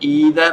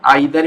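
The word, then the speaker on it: either: Next है ईदर और। इसका प्रोनाउंसिएशन आइदर भी बोलते हैं कई लोग, नो प्रॉब्लम।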